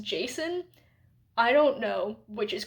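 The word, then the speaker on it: Jacin: c i n and in my head I was saying Ji apparently in the audio book it's just Jason I don't know which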